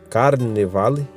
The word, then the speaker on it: carnevale: Então carnavale, carnaval, né, que é carnevale em latim, é assim que pronuncia, que significa adeus à carne.